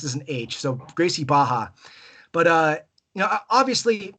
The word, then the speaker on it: Gracie Barra: I said it's called like I called it Gracie Barra for years they don't like that it's it's pronounced as an age so Gracie baha but uh you know obviously so I started